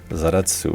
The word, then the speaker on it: Zaratsu: machine which is why it's basically called zaratsu which is the pronunciation of A in Japanese of a foreign world and those crazy hands